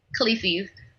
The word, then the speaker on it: Khaleesi's: Khaleesi's. What? Yeah. How do you say it? Khaleesi's. How do you spell that?